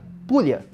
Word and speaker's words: Puglia: da bota exatamente existe uma região chamada Fúria se escreve Puglia e essa é uma